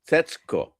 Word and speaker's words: Setsuko: Setsuko. Yeah, am I closer to the correct pronunciation there?